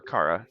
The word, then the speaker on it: Chara: So, although this face is like giving me Chara vibes a little bit, or Kara, depending on how you say it.